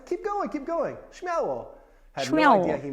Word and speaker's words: Śmiało: Number 5, śmiało.